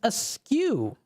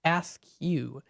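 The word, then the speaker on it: askew: aew you see it it's ask you ask you yes ask you you uh that is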